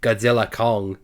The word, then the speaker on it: Godzilla x Kong: about this now apparently the X you don't pronounce the X apparently the name is actually just Godzilla Kong the new Empire the